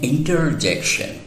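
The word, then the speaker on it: interjection: भी कहा था कि आर को साइलेंट करके अमेरिकन्स नहीं बोलते हैं, तो इसलिए वो आर को भी प्रोनाउंस करते हैं, तो वो लोग कहते हैं इंटरजेक्शन, इंटरजेक्शन।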